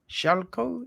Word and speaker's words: Schalko: people so I am joined by David Shalo shalco is that how you yeah that's that's the right pronunciation right Splendid David Shalo who is the